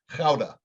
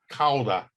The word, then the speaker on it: Gouda: 36 month old age gouda you pronounce it galda the diamond the the dutch would pronounce it like k-h-o-w-d-a chowda caulda of course and there's an american i always have called it gouda but you can see